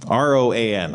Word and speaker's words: Roan: Rowan, or Roan. R-O-A-N. I think that's just Roan, right?